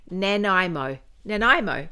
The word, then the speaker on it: Nanaimo: She said how I pronounce it. Nanaimo.